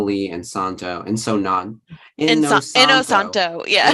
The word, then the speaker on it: Inosanto: Inosanto. Yeah. Inosanto. It sounds exactly like it's spelled.